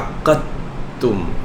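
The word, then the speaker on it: عقّدتم: 2টা কাফ, আক্কা, তারপরে এই দালের সাথে তায়ের ইদগাম হয়ে যায়, কারণ আদ আর আত দুইটারই মাখরাজ কাছাকাছি। যখনই মাখরাজ কাছাকাছি হয়, তখন উচ্চারণের সুবিধার জন্য এই দুইটাকে একসঙ্গে মিক্স করে উচ্চারণ করতে হয়। আক্কাতুম, আক্কাতুম, তাহলে এই দালটা উঠে যায়, এই তাটা ডবল হবে।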